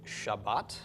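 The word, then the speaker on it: שבת: does have a doggish so this is pronounced shabbat and is of course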